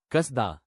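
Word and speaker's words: קסדה: कसदा।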